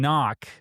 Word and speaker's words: knock: So when you're saying knock, there's 2 Ks and only one of them's pronounced, but you've got 2 Ks in there, so it's very funny, right?